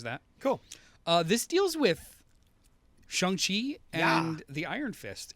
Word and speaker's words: Shang-Chi: Yeah, it's not Shang-Chi, right? It's a different pronunciation. It's Shang-Chi. It's like QI as opposed to CHI, I believe.